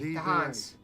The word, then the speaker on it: Khan: They don't pronounce K. The Hans.